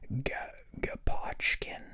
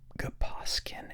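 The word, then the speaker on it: Gaposchkin: Oh, maybe it's like school, SCH, Gaposhkin, and there's a K. Okay, they really want you to pronounce that like K. They're hitting that hard, SCHK.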